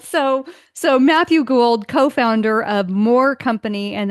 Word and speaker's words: Gould: I always say your last name wrong. Is it Gould? That was great. Matthew Gould.